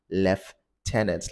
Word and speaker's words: Lieutenant: wrongly so it's Lieutenant left tenants like you left a tenant tenant Lieutenant so that's